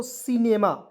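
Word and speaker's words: cinema: तो इसे पढ़ेंगे दोस्तों सिनेमा यहां पे सी का उच्चारण स के रूप में करेंगे आई का प्रय छोटी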